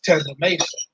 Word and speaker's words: Tezamasun: And then my father came up to the school like, no, it's an African name. It's like T-A-H instead of T-E-Z. It's Tezamasun. He's not saying it wrong.